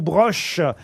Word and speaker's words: Broch: Alors, je sais pas si on prononce Bror ou Broche. Parce que parfois, Ça dépend s'il y a un umlaut sur le O. Oui. il n'y a pas de umlaut sous le E. Donc c'est Bror.